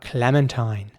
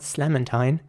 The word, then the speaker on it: clementine: Next up, clementine. Clementine is spelled C-L-E-M-E-N-T-I-N-E, clementine. And this time you have to pronounce the C at the beginning like a K again. So it's clementine, not slementine or slementina or something, but clementine.